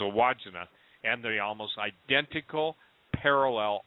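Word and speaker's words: Wandjina: I used to call them the Wajinga, but it's a Wajina.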